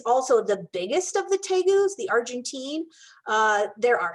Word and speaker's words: tegu: chummy is a tegu tegu is spelled t-e-g-u um sometimes people call him teagues and that's fine too but um here in america we usually pronounce it tegu this is um the